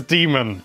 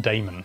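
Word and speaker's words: Daemon: Demon Ex Machina, and yes, it is Demon, because I mispronounced that for so many years in my youth. It's not Damon.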